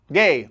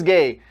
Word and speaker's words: Gueye: Gay. Oh, it's pronounced like that. Okay, Idris Gay.